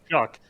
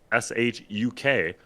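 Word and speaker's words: Shough: Tyler Shuck's last name is pronounced Shuck, Shuk, like the word used in aw shucks or shuck corn. Despite the appearance and spelling, it does not rhyme with cough or dough.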